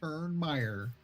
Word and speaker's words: Turnmeyer: Yeah, just like it sounds, like it's spelled, Turnmeyer.